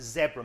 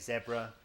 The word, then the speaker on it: zebra: a little look at Zebra muscles in Arizona right and that is the right way to say it zebra by the way not zebra just so you know